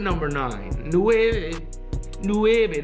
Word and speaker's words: nueve: nine and the way Nueve that's how you say it in Spanish good tackle bro huh